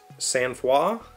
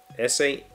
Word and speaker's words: sang-froid: So that sang-froid is how I would have said that had I encountered that in a book. But the pronunciation key seems to think it's one of the Romance languages.